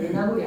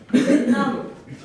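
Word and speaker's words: 멧나물: 매라는 수누리말과 나물이라는 수누리말이 만나서 합성어를 만드는데 발음을 해봐봐. 매나물 발음이 매나물이 아니거든. 맨나물 아랫마을 뒷머리 빗물 니은이 덧날 때 사이시옷을 받쳐 적어야 한다.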